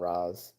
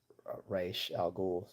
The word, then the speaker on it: Ra's al Ghul: Some call him Raz, some call him Raish al Ghul, whatever.